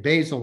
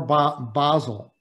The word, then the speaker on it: basil: sandwich and of course how do you say it basil or basel depends if you're in texas i guess or if you're in london next slide please so what